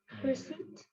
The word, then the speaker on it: receipt: Only thing you have to take care here, the letter P is silent. Huh? It's receipt. P is silent and you bring a long E sound there.